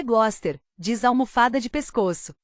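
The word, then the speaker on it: Gloucester: "No Glowsester", responde Coque alto. "É assim que se pronúncia? Acho que é Gloster."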